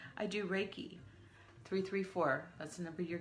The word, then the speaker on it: Reiki: Reiki is spelled R-E-I-K-I and is pronounced Reiki.